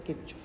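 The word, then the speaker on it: Kirchhoff: Kir con C H. Kirkof, si quieres traducirlo como se lee, pues Kirchov.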